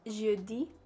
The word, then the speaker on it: jeudi: Thursday is pronounced jeudi.